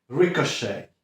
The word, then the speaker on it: ricochet: Kolejne słówko, znowu troszkę z francuskiego wymawiane, to ricochet.